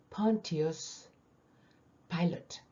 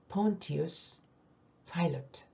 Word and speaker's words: Pontius Pilate: 본디오 빌라도의 영어 발음 Pontius Pilate, Pontius Pilate.